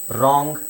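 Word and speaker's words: wrong: ಆಮೇಲೆ ಗೊತ್ತಾಗುತ್ತೆ ನಿಮಗೆ ಓಕೆಡಬ್ ಆರ್ ಡಬ್ಲ್ ಆರ್ ಬಂದಾಗ ಡಬ್ಲ್ಯೂ ಸೈಲೆಂಟ್ ಆಗಿರುತ್ತೆ ಆರ್ ಉಚ್ಚಾರಣೆ ಮಾಡಬೇಕು ನೋಡಿ right ರೋಟ್ return wrist ರಾಂಗ್ ರಾಟ್ ಸೋ ಇಲ್ಲಿ ಡಬ್ಲ್ಯೂ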